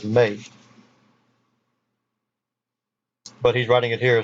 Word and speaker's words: me: But it's supposed to, all the E's in Babylonian and Sumerian are pronounced as the sound A, the actual vowel sound A. So it's not pronounced as me, it's pronounced as May.